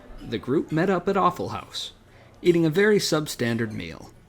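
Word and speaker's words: Awful Haus: Besides, the restaurant is called Awful House, not Awful Hoss. It's spelled H-A-U-S.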